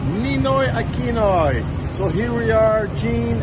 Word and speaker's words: Ninoy Aquino: Ninoy Aquino. Ninoy Aquino.